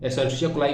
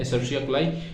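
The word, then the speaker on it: Escherichia coli: cherry chia ठीक है एसर्स कुलाई वैसे बोलते हैं एसर्स कुलाई बट इसकी स्पेलिंग याद रखने के लिए अगर बोर्ड्स में हो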